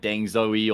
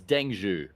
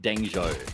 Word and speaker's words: Dengho: to pronounce Dengho because I just thought it was like Deng Zoey or Deng. Apparently, it's Dengu or like Denho.